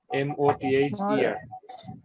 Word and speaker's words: mother: যেমন মাদার, আমি যদি মাদারে যাই একটু খেয়াল করি, MOTHER, একটু খেয়াল করেন, একটু উচ্চারণ করি, এটা ই ভাওয়েল, এটা হচ্ছে ম, এটা আ, তাহলে কি হয় মা।